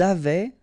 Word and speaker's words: avaient: Ils avaient, so look here, E-N-T, you write them, you don't pronounce them.